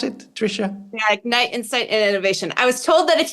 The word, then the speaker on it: Ignite Insights Plus Innovation: Is that how you pronounce it, Tricia? Yeah, Ignite, Insight, and Innovation.